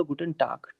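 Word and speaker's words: Guten Tag: दिया लेकिन हल्का सा का वाला साउंड लेगा गुटन टाक टाक पूरा प्रॉपर का भी नहीं लेगा कि आपको गुटन टाक टाक नहीं करना है का और ग के बीच में रहेगा हल्का सा ये ठीक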